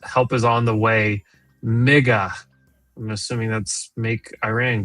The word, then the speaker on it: MIGA: Mega, I'm assuming that's make Iran great again. Mega. That's M I G A.